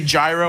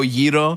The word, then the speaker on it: gyro: I try not to I say gyro I don't go Yeo you know what I mean